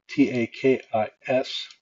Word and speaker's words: Takis: So I'm going to type T-A-K-I-S. And then the pronunciation that we want to use.